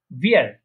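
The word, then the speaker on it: wir: তারপরে ভিয়ার, এটা কি উইয়ার না, এটা হচ্ছে ভিয়ার, ভিয়ার, ভিয়ার প্রনাউন্সিয়েশন করা ভিয়ার। হ্যাঁ, ওই যে নিচের ঠোঁটের সাথে মাঝখানে উপরে যে দাঁতগুলো আছে ওটা লাগিয়ে নিচের ঠোঁট একটু নিচের দিকে গোল করতে হবে, ভিয়ার।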